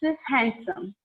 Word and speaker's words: handsome: We pronounce this when we pronounce this word, it sounds like handsome. Okay, hand plus some, but it's not handsome. It should be pronounced as handsome. Okay, and we treat the D as a silent letter.